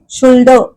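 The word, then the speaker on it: should: हे क्रियापद आपण वापरतो त्या शरच्या स्पेलिंग मध्ये एस एच य एलडी हा मध्ये जो एल येतो शुड ल करतच नाही उच्चार आपण म्हणजेच एल हे अक्षर झालं सायलेंट कारण उच्चार फक्त शुड ड शुड एवढाच उच्चार आहे त्याचा एल होत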